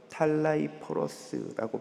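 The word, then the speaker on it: ταλαίπωρος: 곤고하다는 헬라어는 탈라이포로스라고 발음합니다.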